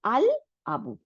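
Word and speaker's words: الأب: কামরি ওয়ার্ডের মধ্যে কি হয়, লামটা উচ্চারণ হয়, লামটা মিলে যায় না অক্ষরের সাথে। হ্যাঁ, তাইলে আমরা দেখতেছি আল আবু, আব্বু কি আব্বু বলি নেই, তাই না?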